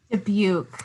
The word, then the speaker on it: Dubuque: So I think it's the view, Dubuque.